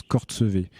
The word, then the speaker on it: Courchevel: Et le nom de Courchevel, en fait, il est tiré d'un lieu-dit qui s'appelle Courchevel, mais qui lui-même, en patois local savoyard, se prononce Cortsevé.